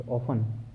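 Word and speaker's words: often: Want went और want want में ध्यान रखना want on एंड ऑफन। ओपन में टी साइलेंट रहता है।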